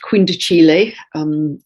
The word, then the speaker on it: quindecile: It's spelt quindecile, but it's pronounced quindecile.